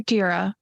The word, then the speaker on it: Tira: I think I'll call you Tira. It rhymes with Kira.